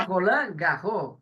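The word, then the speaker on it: Roland Garros: não discutamos ele fala rolan gar só se fosse um nome estrangeiro que não é o caso aí falaria esses terminais de xst Mas se for nome francês ou palavra francesa não se pronuncia muito bem então vamos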